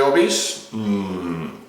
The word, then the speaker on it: Obís: Desde allí se ve la situación de Obís, que mucha gente le llama Obís, pero es Obís, con acento en la I, que luego...